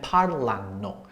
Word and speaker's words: parlano: So this extra syllable does not change the stress in the word. So your stress is always going to be 2 syllables back before the end of the word for the anno endings.